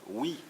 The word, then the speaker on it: hoc: Alors l'occitan, ça vient de hoc, qui voulait dire oui au Moyen-Âge, maintenant on prononce o, mais on écrit toujours hoc, et c'était le domaine